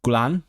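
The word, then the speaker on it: gwlân: Wool in Welsh is gulan. Uh but because of the feminine gender, it became ul just w l a n.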